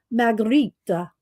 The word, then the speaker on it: Magritte: Margherita. So Renee Margherita is that I looked. If you don't know how to pronounce something, Google will tell you, right?